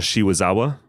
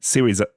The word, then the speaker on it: Serizawa: Shiwazawa. We did pronounce his name like that for the longest time.